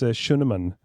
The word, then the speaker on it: Schuneman: stream joining us through voice chat it's shunan I hope that I pronounced that correctly and uh you you nailed